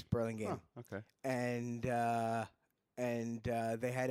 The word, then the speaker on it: Burlingame: is that how they pronounce it? Burlingame? Burlingame, yes. Huh. I always thought it was Burlingame, and I was repeatedly I told.